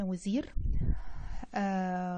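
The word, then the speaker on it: Осирис: زي ما قلنا إن كلمة أوزيرس أو أيزس أو حورس ده نطق يوناني لأسماء الآلهة، ودوت علشان من الآخر يعني اليونانيين كانوا ناس ما تعرفش تنطق الكلام المصري، فعشان كده كانوا بينطقوا الكلام بشكل مختلف عن ما كان موجود في النصوص. إنما أساسا الإله أوزوريس كان معروف في اللغة المصرية القديمة باسم وزير، وهي ديت الكلمة اللي أنا كنت بستخدمها لنطق الإله.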